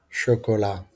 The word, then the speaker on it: chocolat: veut lire le mot chocolat je ne prononce pas t lisez silencieusement les mots